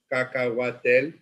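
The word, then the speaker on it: cacahuatl: take it back to the AZ Aztec dialect Kaka watel you know and these are ingredients which are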